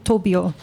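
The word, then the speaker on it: トビウオ: Y voy a destrozar la pronunciación, pero es algo como tobiuo, algo así.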